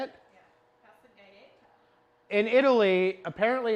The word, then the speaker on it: passeggiata: They call it a passeggiata. Oh, that's how they say it? Yeah, passeggiata.